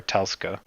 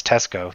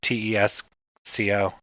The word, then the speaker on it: Tesco: to the local Tesco Tesco or Telco oh it's Tesco tees Co yeah yeah Kmart died